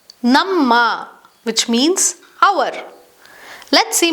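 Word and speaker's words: ನಮ್ಮ: Ma is pronounced as a double M, ma, which sounds like namma, namma, which means our.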